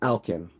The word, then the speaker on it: Alquin: it's it's pronounced Alkin. Okay, thank you. But it's spelled Alquin. Gotcha, Alkin.